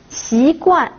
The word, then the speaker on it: 习惯: 习惯, attention au deuxième ton, xi et au quatrième ton, guan. Xi guan se traduit par habitude. Maintenant, si je prononce xi guan au premier et au troisième ton, cela signifie une paille.